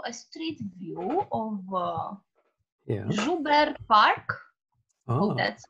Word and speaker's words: Joubert Park: Joubert Park. Oh, that's how it's pronounced.